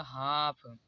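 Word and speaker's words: half: देखिए यहां पर भी एफ से पहले एल आया है इसलिए एल साइलेंट होगा यहां पर इसे पढ़ जाएगा हाफ यहां पर अब देखिए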